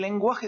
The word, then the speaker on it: lengua: Là, par contre, quand vous avez un G-U-A ou G-U-O, le U se prononce.